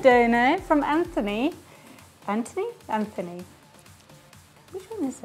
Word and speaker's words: Anthony: We have a $5 donor from Anthony.